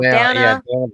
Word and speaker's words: Dana: Dana rhymes with banana.